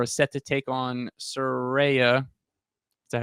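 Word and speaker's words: Saraya: and Britt Baker are set to take on suraya is that how you say it yeah Soraya on and a mystery partner on January 11th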